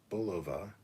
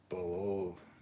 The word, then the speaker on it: Bulova: Bolivia but a bullover sorry uh pronounced Bulova Brits call it below Bulova the guys whose name is said it's bull what the [ __